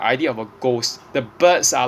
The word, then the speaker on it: Baird: Okay, the third variation of the motif of the songbird is actually Lucy Gray Bird herself. Okay, the name Baird, bird, and it's pronounced as bird, but so there's a silent A, but so she is the songbird.